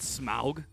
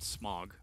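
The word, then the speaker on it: Smaug: good I like that smug I don't know their name that is the actual pronunciation of smog it's not smog smog is the thing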